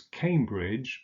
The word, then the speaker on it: Cambridge: unser Notting oh sure Cambridge is on the river cam so it's Cambridge that can the German